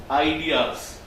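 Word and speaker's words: Aidias: We pronounce our company Ideas. If you we spell it differently, A-I-D-I-A-S. Phonetically, it's Ideas, it's correct. There is a history behind Ideas, and we'll discuss that tomorrow.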